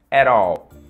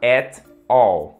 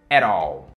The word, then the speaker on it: at all: aquele amplo na frase você usa ou era ol ea pronúncia é isso mesmo era ol claro que você pode falar é te ó tá tudo bem mas